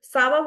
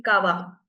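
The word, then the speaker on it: ça va: Uh this accent this accent is used to basically to um the change the sound of C from the hard C sound to a softer S sound. For instance, if Sava would be written without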